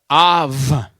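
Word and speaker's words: אב: Now, how would you pronounce that word? Av. Somebody else is joining, so I'm going to let them into the Zoom. Okay, Av.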